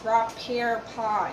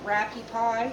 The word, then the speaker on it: Rapure pie: it so you can catch it, but it's Rapure pie. Sometimes it's called rappie pie or rapie pie. It's spelled Rapure.